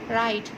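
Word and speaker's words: write: अब देखें ये राइट है, राइट, तो अब इसका W का साउंड यहाँ पर नहीं है।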